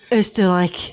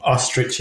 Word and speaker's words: Oesterreich: the Oesterreich, Ostriches.